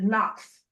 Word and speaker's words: NOx: Even though you're going to spell it out, you you should put in parentheses N O X because that is what everybody refers it to. Yes. To knock it outside. They they call it Knox. Knox.